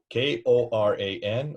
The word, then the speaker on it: Quran: Koran or Qur''an? Are not both correct? Mm-hmm. Exactly. So this is a non-argument whether it's K or Q. It's linguistically how you hear it, how you sound, how you say it.